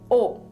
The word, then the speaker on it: ও: the Bengali letter ya the next letter is O it is pronounced as o in the English word Oak there is no Matra